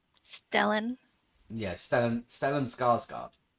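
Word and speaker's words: Stellan Skarsgård: like stellen yeah stan stellen skarsgard is the way i think it's pronounced if i'm wrong if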